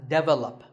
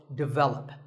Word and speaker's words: develop: This is pronounced wrongly by many learners of English as develop. But the first syllable is actually de, and the stress is on the second syllable, so develop.